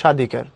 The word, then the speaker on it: স্বাধিকার: পদের আদ্য ব্যঞ্জন বর্ণে, আদ্য মানে শুরুতে, বফলা যদি সংযুক্ত হয় তখন সে বফলার কোনো উচ্চারণ হয় না। যেমন দেখো, শুরুতে দন্ত স্বর নিচে বফলা ছিল, উচ্চারণ নাই, আমরা পড়েছি স্বাধিকার।